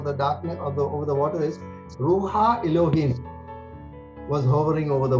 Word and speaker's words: ruach: The spelling here is RUACH. Okay, for some reason, but it's pronounced ruha.